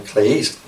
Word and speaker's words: kleis: So give you some idea where this word, I used the pronunciation in the Greek form, kleis, clitoris, here.